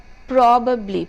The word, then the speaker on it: probably: Now, the correct would be stress on the word probably. The first three alphabets there. Probably and not probably.